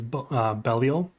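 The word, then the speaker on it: Belial: has Bell or B I know in Diablo they call him B but I think the more um common pronunciation is bellal then of course then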